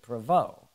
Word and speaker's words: Provost: Provost, what is that French? Yes. Right. Do you speak any French? Provost. Now, if we lived in Canada, they would pronounce it Provost. They don't pronounce the ST.